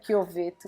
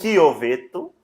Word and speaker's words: Chiovetto: soube pronunciar no começo, como que é? Chioveto. Chioveto.